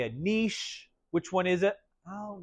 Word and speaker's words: niche: You don't pronounce the E, so you can't say like, oh, it's a niche.